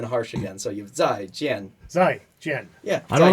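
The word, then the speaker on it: 再见: Zaijian. Zaijian. Zaijian. What is that? Zaijian. Down and then down. Zaijian. Zaijian. Not Zai. Zaijian. Oh, so you have 4 tones.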